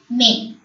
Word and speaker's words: nez: EZ is also pronounced as A. NEZ, may. May.